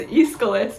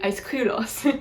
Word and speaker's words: Aeschylus: Like if you see like the name Aeschylus, it's like, how are you supposed to know that that says Aeschylus? It's actually Aeschylos, but that's really, really difficult for an English speaker to say.